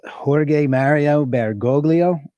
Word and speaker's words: Jorge Mario Bergoglio: Okay, I believe his name is pronounced Jorge Mario Bergoglio, and that is Pope Francis.